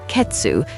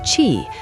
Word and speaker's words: 血: The onyomi ketsu sounds sharp, analytical, almost like a cyborg. Ketsuatsu, blood pressure. But the kunyomi chi, that sounds raw, primal, like a demon whispering.